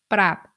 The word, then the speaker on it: ปรับ: In these three examples, you can hear that I pronounce ปรับ in the low tone, คลอง in the middle tone, and ขวา in the rising tone.